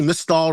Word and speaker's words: Mall: rhymes with jelly Mall rhymes with Christal one of those the